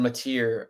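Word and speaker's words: Mateer: Well a guy that does have pretty solid running ability is John Matir I think. How do you say his last name? You It's Mat. Yeah it's Mat.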